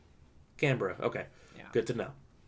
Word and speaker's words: Canberra: I disagree with Australia on the spelling vis-a-vis the pronunciation, but the official pronunciation is Canberra. Canberra. Okay, Yeah. good to know. Because I've been calling it Canberra, and I'm like, okay, That is how it's spelled.